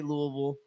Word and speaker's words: Louisville: yeah the only reason I say Louisville is because when you go there they say Louisville I got family in Louisville and I believe it's how the people who live there say it yep is how